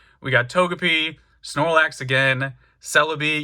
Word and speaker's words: Celebi: got togepi snorlax again celebi yes that's how you pronounce it like celebrity and you can see